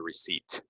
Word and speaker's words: receipt: if you bring me the receipt silent PE dessert recipe the beds